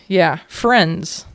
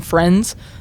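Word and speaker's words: Firenze: So kind of like you're saying friends, but friends. Friends. Okay. The emphasis on the wrong syllable.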